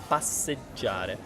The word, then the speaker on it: passeggiare: own verb in Italian, passeggiare, which isn't easy to pronounce because it's contains all of these double consonants, and J, right? GI, the what would you call it? Soft and hard? Yeah, soft sound, già. This is già.